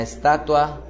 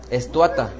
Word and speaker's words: estatua: se inclinaba ante la Estatua no es es Cómo se dice estuata no es estoata es estatua entonces no es esto ata y si es estatua y vuelve a su